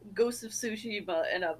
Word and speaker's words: Tsushima: be like, Ghost of Tsushima, and I'm like, it's not what it is. There is a T there at the beginning of the word, which means in Japanese you pronounce that, but it's followed by an S sound.